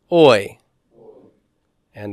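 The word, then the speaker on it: οἰκία: a a all right Omicron ioda is pronounced oi oi oi and again we have um thong beginning the word notice my smooth breathing is over the second member oia oia means house house and if you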